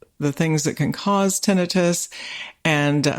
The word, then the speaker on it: tinnitus: So first of all, tinnitus is how we pronounce it. Some people say tinnitus, but the correct or medical pronunciation is tinnitus, and it is ear ringing.